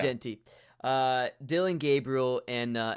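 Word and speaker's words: Jeanty: Travis Hunter Ashton Jey is that how I say his name is it Genty I say Genty yeah Genty uh Dylan Gabriel and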